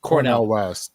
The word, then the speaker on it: Cornel West: But yeah, so Cornel, now is it Cornel West or Colonel? Like, how does he say his name? Cornel West. Cornel. Okay. Dr. Cornel West.